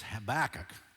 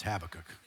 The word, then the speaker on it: Habakkuk: Some of you say, well, I learned it as Habakkuk. You can say it any way you want. But if you want to say it right, it's Habakkuk.